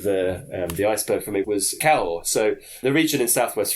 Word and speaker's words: Cahors: To an English person, we heavily pronounce the H. That's just the way Cahors. English goes. Yes, Cahors. But of course, you're not supposed to pronounce that H in any way, shape, or form.